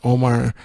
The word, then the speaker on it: Omar: is he's British now when you say his name you say oh my MBE he received a